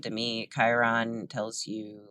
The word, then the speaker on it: Chiron: There's Chiron or Chiron. I'm not sure how to pronounce it. I think most astrologers call it Chiron, and that one is about pain.